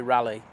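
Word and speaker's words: Raleigh: that's coming from uh Ry dorham I let's get that pronounced wrong it should be rally it's rally isn't it yeah we're having trouble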